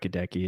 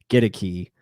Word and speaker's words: Akiem: i've been saying uh godeki it is not kadeki it's gonna be get a key uh is how you say it and i'm glad